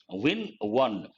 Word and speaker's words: one: But how do you pronounce one? Win one. Wa. That's a consonantal sound.